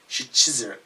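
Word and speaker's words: Szczyrk: Shizurk? Shizurk. How do you say it, really? Shizurk. Shizurk. SZ is sh. CZ is chiz. YRK is irk. Chizurk.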